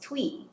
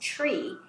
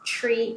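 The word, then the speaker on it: Twi: out there that tree which is spelled t w I is not pronounced twe so I find a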